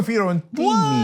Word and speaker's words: Fiorentini: Francesca Fiorentini. Hey! Oh, that's how it's pronounced.